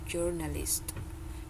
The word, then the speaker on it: journalist: Coba diulang Mbak journalist Iya jadi t-nya itu eh t sound-nya itu di belakang tetap ada kalau di Indonesia kan dia bahasa serapan jadi langsung dibuat jurnalis kalau di bahasa Inggris itu journalist jadi dia tetap ada di sound-nya oke satu lagi this